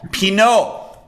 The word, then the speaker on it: Pinault: Paul Pinault. Yeah. Thank you for Pinault. inviting me. And I'm pronouncing it correctly, right?